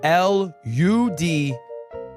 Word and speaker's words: Ludwig: Guys, it's not spelled L-E-W-D. It's L-U-D-W-I-G. It's just pronounced Ludwig.